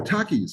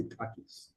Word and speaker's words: Takis: everybody calls me Tai because in Greek when you say my name, if you talk about me, you keep the S. You say Takis, right? If you talk to me, you omit the S and you just say Taki, right?